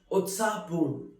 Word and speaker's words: उत्साहपूर्ण: Utsaapurn, which is pronounced as Utsaapurn, which means very excited, very lively.